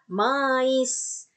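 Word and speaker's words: maïs: Mais. Kenapa I-nya dibaca dan S-nya dibaca? I karena di atas I ada titik 2. Karena I-nya I trema. Maka jadi mais.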